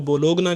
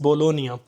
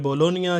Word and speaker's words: Bologna: कोई लोग उसको बोलोगना कहते हैं। बहुत सारे लोग उसको प्रोनाउंस करते हैं। बोलोगना but that is बोलोनिया। Italian जो लैंग्वेज है इटालियन एक्सेंट के अंदर इसको कहते हैं बोलोनिया। जी साइलेंट है।